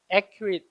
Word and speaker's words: accurate: 강세가 맨 앞에 있습니다. 이름절에. 얘를 뭐라고 읽냐면 accurate 이라고 읽죠.